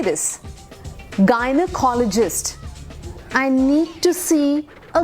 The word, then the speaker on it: gynecologist: Gynecologist. Gynac बोलते हैं कई लोग. Okay, that's like the short form, but that's how you say this. Gynecologist.